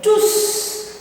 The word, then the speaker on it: tous: S'ils avaient une voiture, ils seraient tous à l'heure. Très bien. Avec un S prononcé, madame.